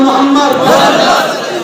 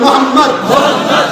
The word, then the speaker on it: মোহাম্মদ: বলুন মোহাম্মদ সাল্লাল্লাহু আপনারা উচ্চারণ করুন মোহাম্মদ খেয়াল করতে নবীর নাম নিলে দুই ঠোটে ঠোট ঠেকছে বলুন মোহাম্মদ আমার নবীর নাম